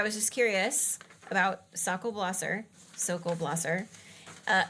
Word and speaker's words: Blosser: I'm just I was just curious about Sak Blosser. So, Blosser. Uh, it's apparently sle blosser rhymes with glosser.